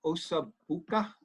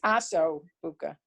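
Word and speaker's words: osso buco: Now, is that where they get, there's that meal, osa buca? Is that No. related? That's Aso Buka. Aso, it's spelled differently?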